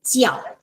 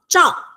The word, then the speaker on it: jiao: Okay, it's not zhao. That's why it's so easily mispronounced as the other one. Okay, so it's jiao. So it's like in English, J-I, Ji, and then A-O, jiao. Jiao.